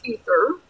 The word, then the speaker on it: aether: Pronounced ether. I'm sorry, that's the actual pronunciation.